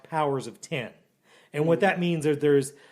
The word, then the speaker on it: Powers of X: called Powers of X, which is actually pronounced Powers of 10.